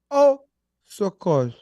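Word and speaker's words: Au secours: space s-e-c-o-u-r-s a u space s-e-c-o-u-r-s Oh course oh so cause award uh Domingo Herman wrong wrong first wrong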